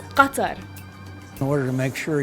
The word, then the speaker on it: Qatar: not Iraq it's Iraq or Iraq in Arabic Qatar it's Qatar in order to make sure you're able to